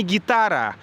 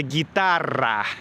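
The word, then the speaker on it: guitarra: Учусь произносить «р» так, как произносят испанцы. Потому что мне уже говорили: Макс, это не гитара, это гитара. Гитара. Вот.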